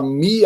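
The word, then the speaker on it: μ: Mas Mu é na letra, na verdade é Mi, né? Na pronúncia do alfabeto grego.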